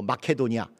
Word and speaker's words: 마케도니아: 절박하고 힘든 마켓 오냐 여기는 마게도냐 오늘날 발음으로 마켓 오냐 그리스 1일 부분에 속하는